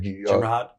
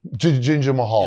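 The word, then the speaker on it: Jinder Mahal: Ginger Mahad. You know the guy. Yeah. I don't know how to say his name. Ginger Mahad, right? Yeah, Ginger Mahad. Yeah. Mahal. Ginger Mahal.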